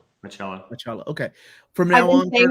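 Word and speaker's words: Bachalo: And how do you pronounce Chris Bacalo's name? Bacalo.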